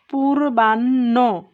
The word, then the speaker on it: পূর্বাহ্ন: বানান লিখব তখন দেখো পূর্বাহ্ন, আমরা কি বললাম যে হয়ের সাথে ন থাকলে তার উচ্চারণটা এনএইচ ওর মতো হয়, এনএইচ ও।